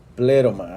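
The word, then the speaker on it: πλήρωμα: es la palabra pleroma así se acentúa la primera sílaba pleroma si está acentuado en el griego pleroma y qué significa la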